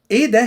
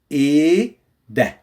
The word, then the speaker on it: إيه ده: إيه ده here we don't pronounce the H. So we don't say إيه. It's إيه ده.